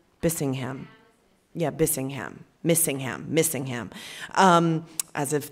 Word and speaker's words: Bissingham: Bissingham.